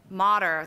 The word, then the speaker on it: Motter: And then to his left is Megan Motter, that rhymes with water.